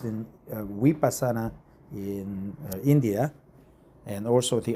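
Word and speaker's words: Vipassana: A N A vasana or vasana it is pronounced in we pasana in India and also the avat course and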